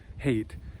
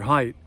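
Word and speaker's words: Haidt: social psychologist jonathan height his name is spelled h-a-i-d-t but he said a lot of people would pronounce it hate and if you're going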